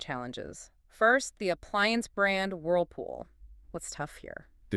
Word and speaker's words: Whirlpool: Remember the dark L requires the back of the tongue to raise up towards the soft pallet giving the sound a resonant heavier almost olive quality.